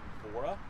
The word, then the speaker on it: Evora: seen the lotus here this is the lotus evora i believe it's how you pronounce it it is a sick sick little